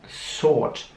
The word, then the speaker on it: sort: Ich sag das Wort nochmal langsamer, sort. Wieder sieht man, dass das Wort mit einem O geschrieben wird, aber das O wird wieder nicht sehr ründlich ausgesprochen, also sort. Nicht sort oder so, sondern sort. Sound ist das nächste Wort.